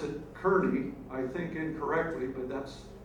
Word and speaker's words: Kearny: So in Arizona, we pronounce it Kearney, I think incorrectly, but that's what it is. But General Kearney, according to his relatives, his descendants, they say the family pronounces it Kearney.